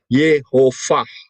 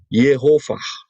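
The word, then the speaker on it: יהוה: itu pengucapannya adalah ah jadi kalau tulisannya y w dengan dikasih nikut mod seperti itu itu bacanya adalah yehovah sudah paham ya yehovah Nah perhatikan Apakah ada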